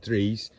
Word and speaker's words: Dries: It's spelt in English Dries, but he's pronounced it Drees.